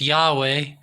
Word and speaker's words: Yahweh: magic okay so the tetragram which is yhwh pronounced yahweh which for short is ja so the deity